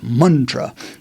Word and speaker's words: mantra: means now some sanskritist will say it's not Mantra it's Mantra and you know I'm not really a perfectionist